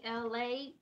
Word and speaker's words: Elay: my show it's me la ela Y pronounced like la like the city I'm not from there